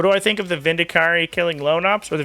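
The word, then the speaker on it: Vindicare: I heard someone say Vindicari like 10 years ago, and it stuck in my head because I thought it sounded cool, and it locked in as the correct pronunciation, and then some people are like, why are you saying it like that? It's Vindicar.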